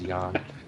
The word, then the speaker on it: Xi'an: It's been established. It is Xi'an. So Scout, neon with a Z.